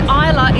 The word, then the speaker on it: Islay: And Islay is spelled I-S-L-A.